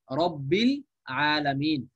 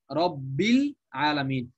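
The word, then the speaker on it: رب العالمين: এই হামজাটা মানে এই হামজাটা পূর্বের কোন শব্দের সঙ্গে মিলে আসলে উচ্চারণে আর আসে না, উচ্চারণে আর আসে না। যেমন দেখেন আল আলামিন, এই যে সূরা ফাতিহার মধ্যে আলহামদুলিল্লাহি রব্বিল আলামিন, তো শব্দটা হচ্ছে আল আলামিন, আল ছিল, কিন্তু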